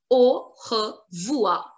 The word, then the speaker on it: au revoir: They remove R-E in pronunciation, not in the written form.